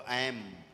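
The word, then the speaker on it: ऐं: ए है, ए की बिंदी लगी, अंग की मात्रा ऊपर रखी है बिंदी, तो ऐम, ऐम बोलेंगे, ऐम, है ना।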